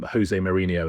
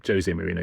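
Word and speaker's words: José Mourinho: for years and years everyone called him Joseé Marinho and he's Jose Marino because he's Portuguese and he used to get angry that people would mispronounce his name and David Ginola Spurs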